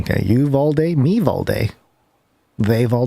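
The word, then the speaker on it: Uvalde: notes uh from people especially in texas it's pronounced you've all day apparently it's very important that we pronounce this correctly okay you've all day meev all day they've all day so it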